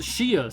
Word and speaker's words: chia: Yes, pronounced Shia seed.